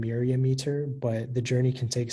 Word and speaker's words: myriameter: Yeah, so the only pronunciation is myriameter.